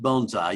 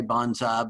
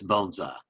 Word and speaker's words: bonsai: y'all are familiar with bonsai but and it's pronounced bonsai you can you can say bonsai but technically it's bonsai and uh you know bonai isn't from asia